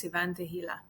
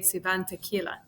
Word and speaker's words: Tehila: say that is because my name is cant hila but when I moved here everyone struggled with pronouncing my last name so they you like often say cant tequila so I was like